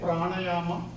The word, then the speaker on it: pranayama: So pranayama may be difficult to pronounce for some of you. You can say pranayama.